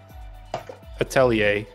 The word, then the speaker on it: Atelier: you if you look on Google it's uh Atelier I tell you yes for the American pronunciation at least and the